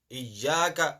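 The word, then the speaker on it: إياك: Iyyaka. हम क्या पढ़ते हैं? Iyyaka na'budu wa iyyaka nasta'in. There is no ayn there.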